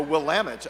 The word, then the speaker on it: Willamette: I'll read this because I was corrected with my pronunciation and I will do it correctly this time located on the corner of 16th and Willamette Oh will lament I would have said